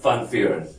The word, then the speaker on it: Van Vuuren: Oh, okay, because it was separated. Yes. It's not one word. It's hyphenated. So it's Yeah. Van Vuuren.